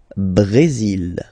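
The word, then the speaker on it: Brésil: only mexic okay Brazil brail okay you will pronounce the final L here and then remember ACC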